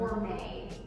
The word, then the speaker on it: Orme: So, how do you say the name of the brand? Orme. Orme.